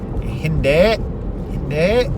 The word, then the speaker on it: hindi: Hindi. You have to say it like that, or we can just say Hindi. Hindi sounds like Hindu.